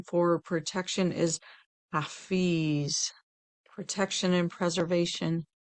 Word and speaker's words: Hafiz: The divine name for protection is Hafiz, protection and preservation. Hafiz, that's spelled H-A, F as in Frank, I-Z as in zebra.